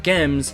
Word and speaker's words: GM: the video, mainly that I've been pronouncing it as Gem Camouf and not Jim Camouf. Well, that's because of accents. The Principality of Zeon actually had a unique accent to them, and as such, they pronounce Jim as Gem.